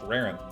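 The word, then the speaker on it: Rarran: But for all of you who are joining from Raren's chat, welcome.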